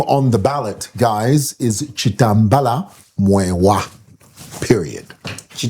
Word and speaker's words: Chitambala: the ballot, guys, is Chitembela Mwale. Period. Chitembela. Chitembela Mwale. This should be Bemba, right? Yes. Well, my names are actually be pronounced Chitembela? No, Chitembela.